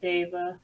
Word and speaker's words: Dav: brian ryan explained it it's pronounced yeah it's pronounced dave he just removes the e for uh for his books but like why did